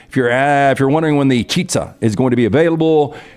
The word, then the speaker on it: Chizza: Chizza. It's pronounced Chitza. Is attempting. It's like chicken and pizza.